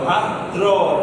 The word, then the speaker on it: ভাদ্র: ভাত্র ভাত্র ভাত্র ভাত্র উচ্চারণ করলে হবে না কি উচ্চারণ করা যাবে ভাত্র ভাদ্র ভাদ্র ভাই বুঝেনি এখানে যদি আপনি ভর